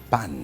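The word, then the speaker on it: pain: Pan. Delicacy. Oo. Pronunciation pa pero ang spelling P-A-I-N.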